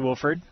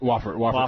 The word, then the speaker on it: Wofford: So you went to Wolford. Yeah. Am I saying it right? Yeah, Wofford College.